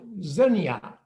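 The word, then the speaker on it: xenia: What you see here is what genetically is called zinnia, not unlike the way the flower is pronounced.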